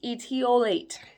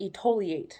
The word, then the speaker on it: etiolate: All right, number 7 is etiolate. Etiolate. Most people don't know how to pronounce it. It's really cute. They always call it etoliate.